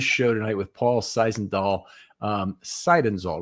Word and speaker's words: Seidenzahl: Seidenzahl, right? Seidenzahl? Correct. Okay. Thanks, Paul. Appreciate you living with me, mispronouncing that.